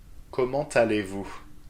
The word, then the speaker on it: Comment allez-vous: Comment allez-vous? Don't forget the liaison here. Comment allez-vous?